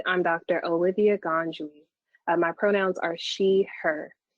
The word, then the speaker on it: Ngad: said i'm dr olivia ganjui my pronouns are she her and you can see the pronunciation of my name say it really fast sorry to interrupt you